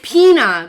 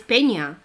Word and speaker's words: Peña: It's Pina because Canadians pronounce it Pina. Yeah, they pronounce it Pina. Exactly, but it's not Pina. It's Peña. It's very close.